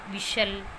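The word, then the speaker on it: whistle: में है और वो टी के बाद है, टी उससे पहले है तो वहाँ टी साइलेंट रहता है। For example कैसल, कैशल, विशल, हसल। तो यहाँ पर वर्ड के लास्ट में एल ई है और उससे पहले टी है तो ये टी यहाँ पर साइलेंट है।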